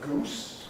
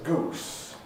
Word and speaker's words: goose: I pronounce this as goose. You will hear people pronouncing it as goose, or indeed as geese, because this vowel is changing at present in English.